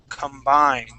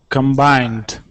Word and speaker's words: combined: Okay, this has a long I sound in there as well. Combined. Oops. Combined.